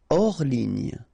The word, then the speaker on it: hors ligne: Hors ligne. Final here not pronounced, so ligne, and then here S is not pronounced, the final one, so hors, and remember H doesn't exist, so hors ligne.